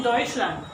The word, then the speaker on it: Deutschland: And the Oi is in Deutschland. This one, Oi, Deutschland. Germany.